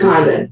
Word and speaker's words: Condon: You said Richard Kinder. What's his name? Richard Condon. Condon.